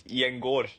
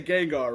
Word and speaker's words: Gjengaar: It's Gjengaar with Oh, a O, Gjengaar. Oh, Gjengaar, my but bad. yeah, it's good enough. Because I know, we usually say Gengar, right?